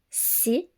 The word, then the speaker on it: six: On prononce 6 et 10 comme si et di lorsqu'ils sont suivis d'un mot qui commence par une consonne.